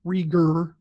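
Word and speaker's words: Regehr: you know Duncan Rieger I'm sorry it's Rieger it I had to listen to a french-canadian in her interview to get that pronunciation correctly because he is from Montreal but yeah it's Frank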